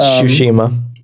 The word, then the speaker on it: Tsushima: Yeah, I was going to say Tsushima, but I didn't know if that's how you pronounced it or not. Yeah, it's Tsushima.